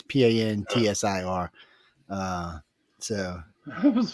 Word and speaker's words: Pantsir: after crash a prize Panzer missile system into a railway bridge in St. Petersburg. Wait, Panzer isn't that a German tank? Yes. I'm probably saying it wrong. It's more like Panster, actually. It's Pantsir.